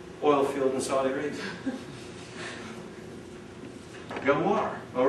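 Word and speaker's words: Ghawar: Gawar. All right. Gawar. All right. G-H. How do you pronounce it?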